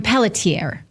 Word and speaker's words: Pelletier: the Maui police chief at the time, John Pelletier.